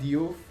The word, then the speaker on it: Diouf: I have Yehezkel, Diouf, that's how you say it, from Reims.